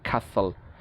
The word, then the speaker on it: castle: like fasten, listen, hasten, castle. ঠিক আছে, so why castle? Well, because to plus law is an occult combination too, and the law sound is pronounced in the same place as the no.